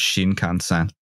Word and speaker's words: Shinkansen: I just want to hear a lot of Texan dudes pronounce Shinkansen. Oh God! Yeah, Shinkansen. A Shinkansen. Yeah, rhymes with Wisconsin.